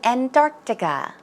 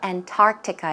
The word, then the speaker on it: Antarctica: For example, as in Antarctica. Pronunciation is not Antarctica, it's Antarctica. 약간 뜨 발음이죠?